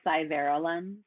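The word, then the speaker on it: SciVera Lens: was though it's kind of a hard to pronounce it's called cyber lens and um you spell that for me yeah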